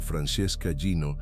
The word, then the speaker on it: Francesca Gino: Un estudio de la psicóloga social Francesca Gino, pronunciado Francesca Gino, de Harvard Business School, demostró que la